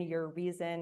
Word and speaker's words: Urizen: but um no I it is pronounced I pronounced it urrizen but it is your risen your reason.